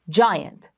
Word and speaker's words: giant: so you'll be able to read this without pronunciation without spelling spelling it out so I giant magic and you read it giant let's look over here by yourself to try